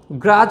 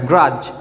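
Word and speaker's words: grudge: এবার খেয়াল করো, at Times, possibly, you at Times, তুমি মাঝে মাঝে, গ্রাজ শব্দটাতে এখানে এই যে ডিটা উচ্চারণ হবে না, গ্রাজ, অর্থাৎ তুমি অসন্তুষ্ট প্রকাশ করো।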